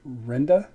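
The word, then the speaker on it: Rinda: Her actual pronunciation of her word would be Renda with an I. Her name is spelled, my wife is R-I-N-D-A. My sister's name was R-E-N-D-A.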